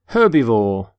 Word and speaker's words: herbivore: herb by the way you pronounce the H in the word herbivore for example this stomach